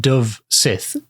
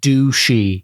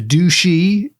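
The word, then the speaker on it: dubh-sith: would have pronounced it Dove Sith du u b h hyphen s i t h but as far as I can tell you don't pronounce the ends of the words so I think the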